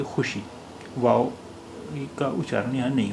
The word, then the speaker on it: خوشی: اس کی وجہ یہ کہ اب زیادہ تر ایسے شبدوں میں، ایسے الفاظ میں، ایسے ورڈز میں جن میں خے کے بعد واو آتا ہے، وہ زیادہ تر واو وہاں پر سائلنٹ رہتا ہے، یعنی واو کا تلفظ یا اچارن نہیں ہوتا ہے. اس لیے یہاں پر واو کا اچارن نہیں ہو رہا ہے. حالانکہ لکھا ہوا یہ خوشی ہے، لیکن ہم اسے بولیں گے خوشی.